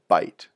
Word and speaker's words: byte: them together that's called a byte sounds like a mouthful of food but it's spelled with a Y and it refers to